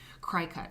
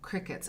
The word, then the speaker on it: Cricut: magazine editing it's fantastic cry cut okay oh Cricket oh Lillian I'm sorry they're pronounced qriket they cut fabric for you oh the Cricut the Cricket cutters then what was in my mind is cry cut there's something I mean